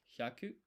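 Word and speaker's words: ひゃく: So this is hyaku.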